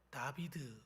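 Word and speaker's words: דוד: 이걸 우리가 모음을 넣어서 발음을 해보면 다비드 이런 말입니다. 다비드.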